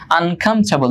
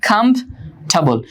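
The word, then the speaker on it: comfortable: আনকমফোর্টেবল, দেখো এই যে এটার উচ্চারণটা কিন্তু একটু ভিন্ন, হ্যাঁ, কমফোর্টেবল, এই যে এখানে ফরের উচ্চারণটা হয় না, কমফোর্টেবল না, এটা হচ্ছে কমফোর্টেবল আর আনকমফোর্টেবল।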